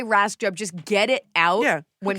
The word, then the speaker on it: Rajskub: when people stop like if you're going to say just say rice Cub say Ras duub just get it out